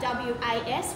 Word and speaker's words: was: Me, she, the, was, think about W-A-S, was. It's actually a Z sound at the end.